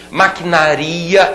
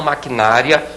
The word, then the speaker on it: maquinaria: contato com outras pessoas maquinaria e não maquinária maquinaria olha que palavra perigosa essa aí derruba muita gente no concurso todo mundo fala necrópsia